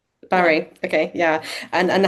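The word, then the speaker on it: Barré: and friends um, who got um, I might pronounce this wrong, Jane bar syndrome. Is it Barry? Yeah. Barry.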